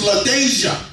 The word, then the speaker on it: LaDeja: Her name is LaDeja. LaDeja, that's right. The dash don't be silent.